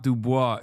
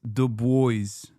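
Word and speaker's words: Du Bois: No, it's not Dubois. It's the boys.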